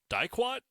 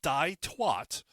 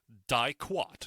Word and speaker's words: diquat: And so the chemical, I believe it's pronounced diquat. Not die-twat, diquat.